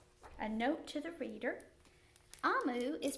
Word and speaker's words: Omu: says but it's but the author tells us how to say it and it's amu and it means queen